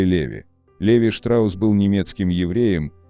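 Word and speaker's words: Levi's: Носители английского языка чаще всего говорят «Левайс», потому что по правилам английского имя Леви читается как Левай. Но создателя первых джинс звали Леви.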